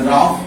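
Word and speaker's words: rough: আসছে আচ্ছা এখানের অর্থ কি মেইন লোক দ্যা রাফ প্লেসেস লিখো রাফ আর ও ইউ জি এইচ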